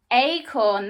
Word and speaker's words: acorn: let's read it together that doesn't sound right let's try it with my a pronunciation acorn that's much better can an acorn wear